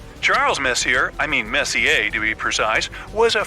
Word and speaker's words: Messier: stands for Messier pronounce Messier not Messier as in is your room messier than mine Charles Messier I mean Messi a to be precise was